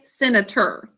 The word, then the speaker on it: senator: or sin a tour but we say senator and that's because it's in a final unstressed syllable just like doctor okay let's mark it